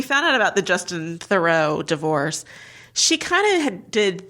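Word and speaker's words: Theroux: may be because yes thorough how you say it thorough thorough thorough not Trudeau no it's thorough I do believe okay we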